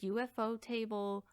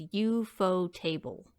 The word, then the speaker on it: ufotable: look this up now in japan they pronounce ufo as ufo speaking as if it were a word and not an acronym tables named after a